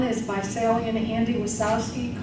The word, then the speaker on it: Wasowski: by Andy and Sally wasowski see didn't spell it w there's a J in there no O wsk K I just like it sounds was yeah those are